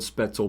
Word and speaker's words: Spoetzl: But yeah, the company is called Spetzel Brewery, spelled Spoetzl. Hopefully we're pronouncing that right.